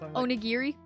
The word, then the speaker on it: onigiri: give her that one close enough did i pronounce it i had chocolate cake in my throat yeah i know that's onigiri yeah there we go i'll let that one